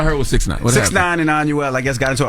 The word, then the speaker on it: Anuel: And let me see if I even know how to pronounce this brother's name. Anuel. Did I say right? Anuel? Is that it? Yes, Okay. Anuel.